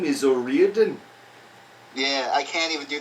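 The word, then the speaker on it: O'Riordan: I thought it was O Ren but that's just my American accent being an cuz then I saw an interview with her and he said it and I'm pretty sure it's pronounced Oren Oren Oren Oren that could just be her accent too so I don't I'm I'm just gonna say Oran for the rest of my life my name is Oren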